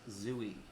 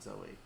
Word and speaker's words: Zooey: likable she is and her name's zooey not zoey i said it wrong